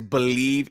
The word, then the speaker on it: BLEAV: Yeah, so our podcast name is Believe in Texans. So the Believe is spelled capital B, capital E, capital. I'm sorry, BLEAV.